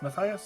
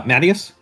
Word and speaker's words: Matias: Matias, is that how you say it? Uh, Mattius. Matt, thank you. For some reason, I thought it was Matias, and I don't know why I thought that.